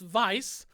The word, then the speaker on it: Weisz: Rachel Weisz the Rachel vice movies I okay yeah the mommy oops mummy franchise alright the Rachel Weisz continuum this w/e i said scent right yeah yeah funny story it's it's pronounced vice and when she first